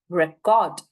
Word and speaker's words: record: Okay, the stress. First syllable and the second syllable, which is spoken for a longer period of time, right?